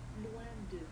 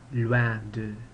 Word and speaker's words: loin de: That looks like the English word loin, but don't say loin de, it's loin de.